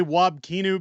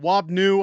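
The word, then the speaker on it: Wab Kinew: Trudeau hanging out with I always say wob kinu because I really don't care how I pronounce his name uh he's not worth really mentioning anywhere but wob new I guess if you want to pronounce it properly uh was in Manitoba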